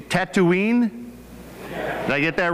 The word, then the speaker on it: Tatooine: This town, now help me with this pronunciation, Tatooine?